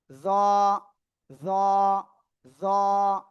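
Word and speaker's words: ظ: যেবার আগাটা উপরে 2 দাঁতের আগায় লাগান, লাগিয়ে একটু মোটা আওয়াজে এটা উচ্চারণ করতে হবে। জ জ জ।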